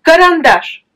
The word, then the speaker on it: карандаш: C'est la dernière A qui est accentuée, mais pourtant, dans ce mot, il n'y a pas de O. Les A qui sont inaccentués, ils se prononcent aussi comme A.